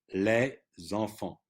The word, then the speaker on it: les enfants: But here, les enfants, okay? Now, the S, you see, of les is pronounced because of the liaison, but if it's followed by a consonant, it is not sounded.